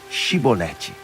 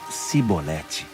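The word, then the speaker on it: Chibolete: Então eles pediam: Diga, Shibolete. Mas eles sempre falavam Sibolete, porque não conseguiam pronunciar corretamente.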